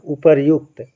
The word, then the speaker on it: उपर्युक्त: रा का उच्चारण एक बार हो रहा है ना, उपर्युक्त, है ना, उपर्युक्त, इसलिए आपका रा एक बार लगेगा, वो भी रेफ रा के रूप में लगेगा, ये वाला आपका क्या होगा, सही होगा।